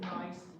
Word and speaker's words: gneiss: That gneiss starts with a G. So probably looking at that and wondering that we pronounce it nice, G silent.